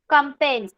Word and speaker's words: campaign: Pulse polio pulse polio कैंपेन. campaign कैंपेन बोलना है उसको. जी का प्रोनाउंसिएशन नहीं करना है.